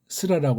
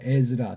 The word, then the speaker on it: 에즈라: 우리는 그걸 또 에스라라고 하죠. 그 자인으로 나온 단어에 자인. 그래서 에스라라고 하지 말고 에즈라라고 하세요. 에즈라. 더 정확하게는 그 발음이 어떻게 되나 한번 우리 찾아볼까요?